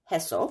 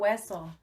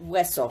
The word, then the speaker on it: Hueso: Cayo Heso. That's beautiful. Which means Isle of Bones. That's not beautiful. So, Hueso. Oh, Hueso. The H is silent. Yes. Sounds like a W.